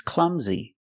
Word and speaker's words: clumsy: and he is Clumsy pronunciation the U is short in makes the uh sound like cup and up CL Clum Z the S makes a z sound like zebra clums clumsy and the last sound is a long e like green beans clumsy clumsy the stress is on the first syllable clumsy he's really clumsy